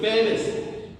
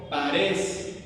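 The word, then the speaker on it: Peres: Y luego el versículo 28, Pérez, o también se pronuncia Parés, con la A primero y luego la E, Parés.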